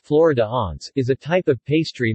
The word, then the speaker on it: Flaó: flower Alliance pronounced Florida aunts is a type of pastry made in different